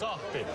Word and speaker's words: sahti: It's pronounced Sahti. Sati.